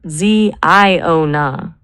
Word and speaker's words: Ziona: If we want something that feels biblical and prophetic but is fresh enough to own on Google, what about Ziona? It's 3 syllables.